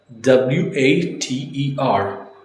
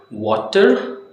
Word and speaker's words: water: So what happens is whenever the T in a word falls between the vowel sounds, it sounds like a soft D. So for example, W A T E R water, we would say water.